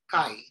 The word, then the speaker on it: chi: Sky Square this symbol this letter looks like letter X is actually chi in the Greek alphabet and that is pronounced as Kai Chi Kai since we have exponent